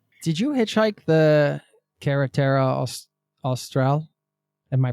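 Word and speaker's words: Carretera Austral: Did you hitchhike the Kerata Austral? Am I pronouncing that correctly?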